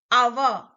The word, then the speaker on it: hour: Our. Though it starts with H is silent, sound is our.